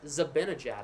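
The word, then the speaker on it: Zibanejad: I got told I'm saying Zabanagad's last name wrong. Zabanagad. Zabanagad. I'm her I've heard Zabanagad. I'm like, no, it says A in the name. It's Zabanagad. Speaking of, shot there got blocked.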